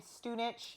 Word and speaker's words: Stunich: Our last name is really common there, and it's pronounced Stunich.